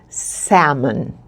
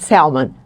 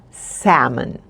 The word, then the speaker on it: salmon: attention to the pronunciation salmon the L is silent okay not salmon salmon we also have tilapia